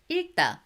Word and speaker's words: 읽다: Be careful to pronounce this bottom consonant. There are two bottom consonants, but the rule applies the same. 읽다, however, E ending is also same. The bottom consonant, one of them carries on.